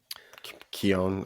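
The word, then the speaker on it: Keown: Alex ke o WN is that Keon con spell it again k e o w n Keon I have yeah Alex Keon but it's a it's a really cool piece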